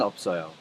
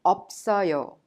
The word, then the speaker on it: 없어요: If you take a look at 없어요. 비읍 and two consonants put together are called double consonants. When you pronounce them, you pronounce the first one as it is and the second one is prolonged to the next syllable or vow.